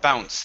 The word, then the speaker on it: bounce: word um okay so bounce there we are so um the e at the end is going to be silent instead of saying they bounce